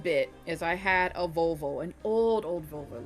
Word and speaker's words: Volvo: I'm just so used to hearing it in Danish, I think, is all. How do you say it now? Now you can't just say that and not. It's going to be a completely different word. It's going to. Yep. No. It's Volvo.